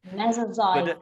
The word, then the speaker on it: Mesozoic: Mesoic.